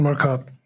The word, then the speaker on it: Marcotte: How do you pronounce it, Skulk? Yeah, it's Ethan Marcotte. Okay, Marcotte, like a true Afrikaans person would say.